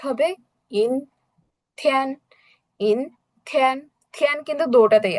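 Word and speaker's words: 阴天: তো আমাদের cloudy day এর উচ্চারণ কি হবে? ইন থিয়ান, ইন থিয়ান।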